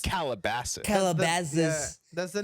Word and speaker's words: Calabasas: But in but it's America, it's pronounced- Calabasas. Calabasas. Yeah, that's the name of the city, Calabasas. Calabasas.